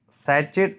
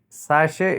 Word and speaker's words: sachet: Sachet is wrong. Sachet. Sachet is right pronunciation.